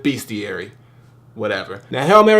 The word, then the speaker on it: Bestiary: entitled beastiary but it's it looks like it's spelled bestiary but it's beastiary whatever now hell Mar